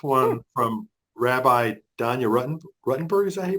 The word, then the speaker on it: Ruttenberg: book this is one from Rabbi Donya rutton ruttenberg is that hey pronounced name yep she says your brain heart